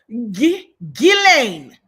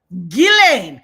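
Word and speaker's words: Ghislaine: And for all of the content creators who cannot get it together, say, repeat after me. G Gilain. Gilane. not just lane and all those other mispronunciations.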